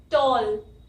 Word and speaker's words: tall: उस टॉल word की spelling जो होती है वो होती है TALL, है ना, टॉल। और यहाँ पे ये जो ए होता है इसकी जो साउंड आती है वो आती है ओ, ए की 6th साउंड ओ, टॉल, TALL।